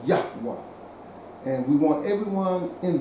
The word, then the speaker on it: Yahweh: The correct pronunciation of that name is Yahweh. Okay, so we are worshipers and we are imagers of the God called Yahweh.